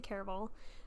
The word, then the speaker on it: Caraval: that by the way I've heard a lot of people pronounce it differently but I'm gonna say care of all by Stephanie Garber so